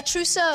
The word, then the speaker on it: trousseau: A trousseau. Trousseau is right. Yes, a trousseau. Nicely pronounced.